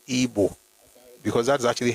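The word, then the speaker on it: Igbo: So it is IO but is pronounced EO because that's actually how they pronounce it. It's EO.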